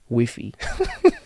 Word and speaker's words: Wi-Fi: I asked for the Wi-Fi password cuz in Spanish it's wiffy so I said uh do